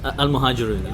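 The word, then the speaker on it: Al-Muhajiroun: first set up the now banned Islamist organisation Al-Muhajirun. Is that how you pronounce it? Al-Muhajirun.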